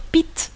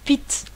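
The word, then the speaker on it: Pitta: Et beaucoup de personnes prononcent, en Inde, beaucoup de personnes prononcent les noms des doshs comme vot, pit et kop. Ils enlèvent la dernière voyelle. Donc c'est très souvent, c'est très commun de dire pit, par exemple, pit.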